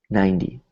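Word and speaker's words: ninety: is a vow so instead of saying 9 like a hard T we say 90 it's almost like a D sound so everybody practice that with me 90 90 90 90 good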